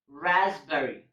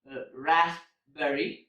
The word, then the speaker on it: raspberry: it's covered and then raspberry it's not raspberry its raspberry so in these two words P is also silent next silent letter is